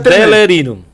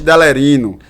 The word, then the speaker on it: Delerino: Complicado de se pronunciar, mas é diferente, né? Já sabe? Delerino. Não. Delerino. Não. É. Vai, de novo. Não, agora eu não vou repetir a mesma coisa, vai. Tenente Delerino.